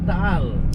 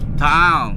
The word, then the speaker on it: Taal: It's overlooking the uh Tal volcano. Did I say that right? Dong. How do you say Tal? Tal. Tal.